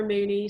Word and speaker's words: Mooknee: It's just at Tara Mooney. So Moo spelled like cow moo, and then knee, like, you know, this, all one word.